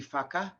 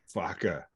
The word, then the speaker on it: whaka: So in the Te Reo language, in Maori language, the WH is one letter and it's pronounced F. So it's a F sound. So if you ever see WHAKA, that would be Faka. Faka.